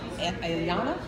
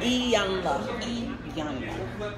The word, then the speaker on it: Iyanla: She is a TV coach on Ayana? Iyanla. Iyanla.